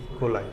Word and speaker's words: coli: और कोलाई, main याद रखिएगा कोलाई, इसका स्पेलिंग होता है COLI, कोलाई।